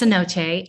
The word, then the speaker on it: cenote: doing that uh lastly sell me on this C note sculpture is this a large vertical shaft through the building uh yeah it's pronounced Cenote um yeah it is um intended it's going